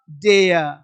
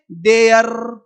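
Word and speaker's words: dare: यहां बिंदी देंगे तो हो जाएगा डेय। अब लोग पढ़ेंगे डेयर। डेयर तो डेयर नहीं पढ़ना है। पढ़ना क्या है? डेय। डेय डेय। यानी ये जो आर है इस आर का उच्चारण नहीं करना है।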